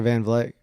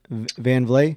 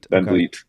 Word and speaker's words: Van Vliet: with uh with Dr Van vleck is it how do you pronounce his name van vlay Dr Van Vliet yeah okay yeah I'm